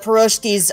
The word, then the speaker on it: pierogi: It's not like the best thing she's ever made, but the pierogies, how do you say it?